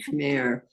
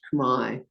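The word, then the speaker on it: Khmer: transliterated the Cambodian what they heard they heard Kare but really it's pronounced Kai so the kai Rouge took over they were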